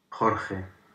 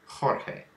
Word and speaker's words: Jorge: over here from the left, and there's 6 pronunciations of it. Let's listen to the primary one. Jorge. Jorge.